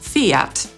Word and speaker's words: Fiat: Po angielsku przeczytamy tę nazwę jako /ˈfiːɑːt/.